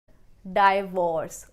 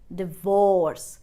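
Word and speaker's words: divorce: suppose तू B pronounced you pronounced us डिवोर्स डिवोर्स दो part में डिवाइड किया वर्ड को एंड D stressful fall on D second syllabus तो आप कैसे बोलेंगे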